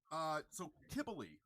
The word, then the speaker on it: Cybele: so Cybele is how she is. It's traditionally pronounced.